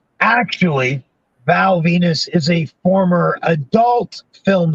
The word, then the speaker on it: Venis: on the phone okay the character's name is val venus the last name is spelled v-e-n-i-s and i remember kind of going hmm okay and he goes now val venus was a former film